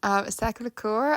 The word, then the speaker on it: Sacré-Cœur: And here is where I'm going to fuck up the pronunciation. Sacré-Cœur, I like always fuck it up.